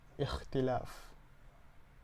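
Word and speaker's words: اختلاف: This is our first word today, and it is pronounced ikhtilaf.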